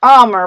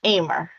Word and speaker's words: Aimer: just looks different so some people growing up it always said armor but it's not pronounced that way it's pronounced aimer so it's always been umer so gamer aimer so it just it